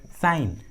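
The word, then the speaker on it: sign: है तो जी साइलेंट होता है, जी का उच्चारण नहीं करते। फॉर एग्जाम्पल साइन, फोरेन, कोनैक, देखिए तीनों इंग्लिश वर्ड्स में जी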